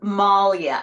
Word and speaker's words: Moglia: just practiced it oh it is Malia so the way my husband explains it is what a bear would do to you it would Maul you best explain but